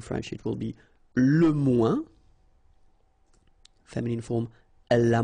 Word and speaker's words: moins: Okay, so le moins, remember when we combine this oeil together, we get the sound ouin, ouin, ouin, okay, and we don't pronounce this final S.